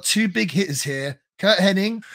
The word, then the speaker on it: Hennig: Kurt Hennig. I never knew if it's Kurt Hennig or Kurt Hennig. I'm going to say Hennig. I think it's spelt Hennig and pronounced Hennig, but two amazing workers here going at it.